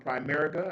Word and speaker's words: Primerica: Uh Miss Sarah Jordan from Primerica.